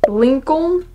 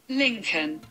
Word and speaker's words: Lincoln: Lincoln. Oh yeah, okay. You don't pronounce the N.